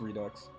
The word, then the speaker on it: Redux: spelled redo like that I don't know it's Redux really I mean how annoying so we Americans say yeah oh boy okay Redux fine oh